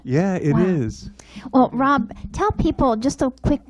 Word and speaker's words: Rob: So it's Rob. It's not Ron, because most people say Ron. They see the, but it's Rob, ROBONDRAS.